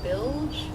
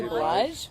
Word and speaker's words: Blige: somebody told me once that your voice was similar to, and I'm really bad with pronunciation of names, Mary Bilge? Is that- Mary Blige?